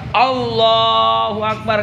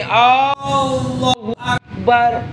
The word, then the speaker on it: Allahu Akbar: Bacanya begini, Allahu Akbar. Sah apa enggak? Alasannya apa? So tahu kita apa? Ayo. Karena huruf alif di awal lafaz Allah tidak boleh dipanjangkan.